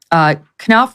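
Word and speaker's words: Knauf: for the Invictus Games, Jason, is it Knopf? Is that how you pronounce his name? Knopf, yeah.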